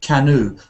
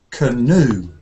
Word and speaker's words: canoe: say that word Cano you said Cano but it's actually canoe canoe canoe canoe it might it